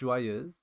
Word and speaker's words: Joyeuse: Um but yeah, it's pronounced Joyeuse.